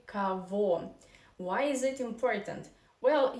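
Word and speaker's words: кого: two things to discuss here because we have ko go written but we somehow say first of all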